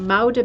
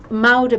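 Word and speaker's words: Muiden: And this beautiful piece that I used for the thumbnail, this is a piece called Moude Maiden, and it's spelled M-U-I-D-E-N.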